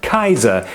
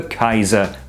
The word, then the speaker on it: Kaiser: on the title of Kaiser, which is quite simply the Latin Caesar, but pronounced the German way.